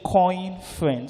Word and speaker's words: Coinference: I think I need to state the conference is not spelled conference, it's spelled Coinference. So it's C-O-I-N, then friends, not conference.